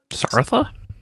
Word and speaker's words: Sartha: Sartha, is that how you say it? Yeah, I don't know. I've never seen the media, but like Yeah, no, you're right in the money.